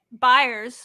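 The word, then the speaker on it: Byers: to score because uh buyers that's how you say it is that correct yeah I always want to say Banks I've heard it both ways but I'm gonna go buyers we'll say buyers got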